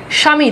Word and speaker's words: স্বামী: বফালারের উচ্চারণ হয় না শব্দের শুরুতে বফ উচ্চারণ হয় না যেমন দেখেন সাদিক এখানে দেখেন বফ উচ্চারণ নাই স্বামী দেখেন বফের উচ্চারণ নাই স্বাধীন দেখেন বফের উচ্চারণ